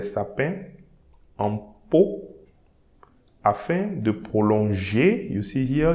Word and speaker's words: prolonger: So here, for prolonger, when you have ER, we need to pronounce it E. So prolonger.